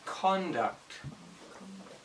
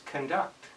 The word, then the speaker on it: conduct: a noun it's pronounced conduct if it's a verb it's conduct same spelling but the noun the emphasis is on the first syllable but the verb it's on the second syllable so conduct cond that's